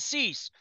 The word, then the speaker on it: Cease: Like, I mean, Cease, did that rhyme with lease? Lease, yeah. Lease and Cease.